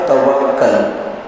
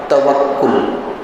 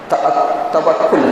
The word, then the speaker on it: توکل: ہمارے معاشرے کے اندر اس لفظ کو بگاڑ کر کہا جاتا ہے توکل، کاف کو زبر کے ساتھ، لیکن یہ غلط ہے. کاف کو پیش کے ساتھ پڑھیں، توکل. جیسے تمدن، تعجب، تلفظ، یہ جو الفاظ ہم استعمال کرتے ہیں اسی وزن پر کیا ہے؟ توکل ہے.